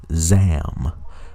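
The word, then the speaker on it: Zsaahm: superhero name and word which is zam um which is spelled uh z-s-a-a-h-m now because which is kind of like a take on captain marvel jr it sounds like a shortened version of shazam but you know but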